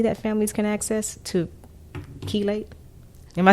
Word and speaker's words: chelate: in the community that families can access to chelate? Am I saying that correctly? How do you spell that?